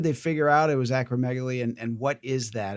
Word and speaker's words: acromegaly: and you're going to have to help me pronounce acromegaly.